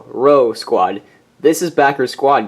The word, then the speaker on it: Rho: awaited row Squad and yes that's how you spell it as displayed on your screen right there r h row Squad this is backer